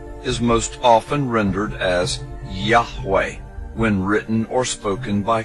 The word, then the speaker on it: Yahweh: Today, Yud He Wahe is most often rendered as Yahweh when written or spoken by Christians and others. It is still never pronounced aloud by Orthodox Jews.